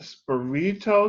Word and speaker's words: Spirito: Today, I have a pleasure to be once again in the presence through Zoom, Chef Anthony Spirito. Did I pronounce it right?